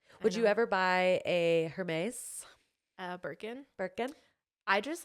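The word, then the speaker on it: Hermès: can't picture it's pronounced Hermes Hermes I wish you would have like why is Jeremy well because I knew it wasn't Hermes herpes it's weird the H is like okay silent um don't worry don't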